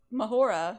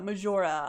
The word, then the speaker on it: Majora: used to Spanish pronunciations I live in an area where a lot of like people have J in their name and it's pronounced H so I I mentally